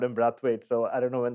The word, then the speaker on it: Brathwaite: uh from my memory like uh when he did play the test in Barbados they all called him brathwood so I don't know maybe it's changed uh he and by the way that came from the great Philip Spooner who is their media manager he said he said that is the the Bayesian way to pronounce his name yeah well Phillip Spooner